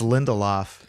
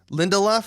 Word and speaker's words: Lindelof: that you pronounce his name like it rhymes with Lindy Hop which I appreciate Lindy Hop but I think it's I think it's Lindelof Lindelof again de la I